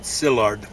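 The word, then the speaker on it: Szilárd: behalf of uh Leo Skynyrd is that his name how do you say it how do you say that well it's spelled S Zed i-l-a-r-d in Hungarian you said sillard okay S Zed kind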